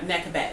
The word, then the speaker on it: Nekhbet: Nekhbet.